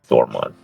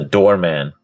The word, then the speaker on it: Dormon: The Dormon, which is spelled literally as it's like pretty much, Dormon, not the doorman, Dormon, as I pronounced it.